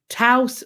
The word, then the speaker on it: Taos: Taos rhymes with mouse.